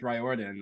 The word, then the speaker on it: Riordan: say your own name I led with this is how you pronounce my last name and then he was like okay my last name is pronounced ryordin I guess and they started yeah